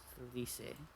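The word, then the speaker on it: Lyse: Or, I'm pretty sure at this point it's probably pronounced Lise. Or at least that's how they pronounce it with the, in the Japanese version.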